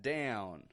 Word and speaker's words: down: moment I'm busy and notice by the way that American twang in that down once more down I'm not just saying down down but down do all people from North America make a down sort of sound stretching it out and no not all of them a lot of people